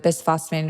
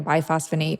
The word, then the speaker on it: bisphosphonate: You can pronounce it bisphosphonate or biphosphonate.